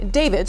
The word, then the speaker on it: D4VD: The car, which was a Tesla, that belonged to a singer and Queens native who goes by the name David, spelled with a for.